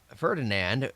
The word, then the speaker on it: Ferdinand: Not to be outdone by his overachieving brother, Ferdinand. I don't know why I keep saying I pronounce that Fernanded.